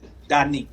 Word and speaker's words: Da Neek: Is it pronounced Danique? Danique.